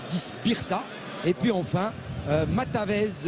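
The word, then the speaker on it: Matavž: Birsa et puis enfin matavez ou matvez le numéro 23 lui va remplacer le numéro 18 berdac alors c'est matav voilà c'est c'est matav team voilà désolé pour la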